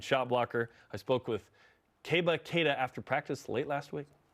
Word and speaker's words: Keba Keita: SPOKE WITH KEBA KEITA AFTER PRACTICE LATE LAST WEEK. KEBA KEITA. THAT'S CORRECT P PRONUNCIATION.